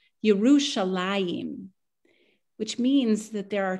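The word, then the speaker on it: ירושלים: And in fact, Yerushalem isn't how you say it in Hebrew. The way you say Jerusalem in Hebrew is Yerushalayim, which means that there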